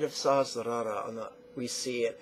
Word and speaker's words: Sahasrara: Now 4 syllables we're going to stack. Sahasrara. Sahasrara. Sahasrara.